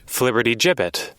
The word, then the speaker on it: flibbertigibbet: And how is it actually pronounced? Flibberty gibbet. Flibberty gibbet.